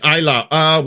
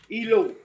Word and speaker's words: Eilau: What? Ilu? Eilau? It's probably not Eilau. It's Preußisch Eilau. Well, Preußisch I can do. Eilau. So that's not French, eh? No. It was in Prussia. Oh. Wow. I always pronounced it Ilo. Well, that's a very French way to pronounce it.